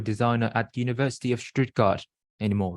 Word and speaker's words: Stuttgart: the University of Stuttgart Stuttgart yeah that's how they pronounce it in Germany uh in Germany yeah